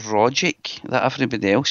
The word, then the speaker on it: Rogic: You say the hard G. Rogic. It's not Rogic that everybody else says.